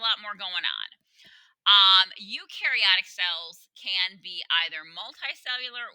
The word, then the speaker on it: eukaryotic: like water-bound individuals again eukaryotic cells you rhymes with do they do have nucleuses